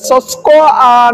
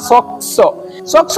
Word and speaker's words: SOCSO: হয় সক্স বাবত সো এখানে উচ্চারণটা একটু কঠিন যে সস্কো না সক সক্স টা কি চলুন এটা একটু